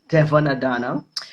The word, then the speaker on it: Devonne Adanna: this is the lovely Devonne Adanna, the CEO.